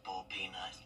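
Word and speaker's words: boiled peanut: Well, a year later, I've been having a hankering for bull peanut, and that is how you pronounce bull peanut.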